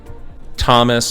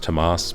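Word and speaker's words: Tomás: I want to thank Thomas at Lagoon Catamarans. You spent a long time with me. It's actually pronounced Tomas, but I didn't want to sound, that way.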